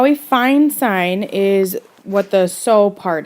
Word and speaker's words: sine: at this box here um this sign uh it's spelled s-i-n-e we use the abbreviation s-i-n okay that's sine